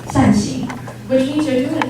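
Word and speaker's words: 善行: Circular doors are popular in Taiwan because in Mandarin, these doors are called fan-shaped, 扇形, which is the same pronunciation as doing good deeds, 善行, which means you're doing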